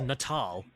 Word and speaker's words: Natal: Oh wait, it's pronounced Natal.